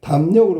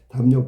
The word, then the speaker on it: 담력: 자, 그 다음에 담력으로 가야 되겠네. 담력 보세요. 담력. 이건 담력 이렇게 발음해야 되잖아. 그럼 미음 때문에 미음의 영향으로 리을이 니은으로 이렇게 바뀌는 거예요.